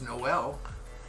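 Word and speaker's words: Noël: Change the emphasis. It's Noel. Noel. It's not Noel. It's Noel. I know. Noel. Yeah. Or Noel. I don't know how to pronounce that E. Noel is correct.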